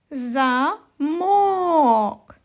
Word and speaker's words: замок: кожен звук поставити наголос ось наголос стоїть на другому звуковичку О прочитаємо слово замок Ні це не туди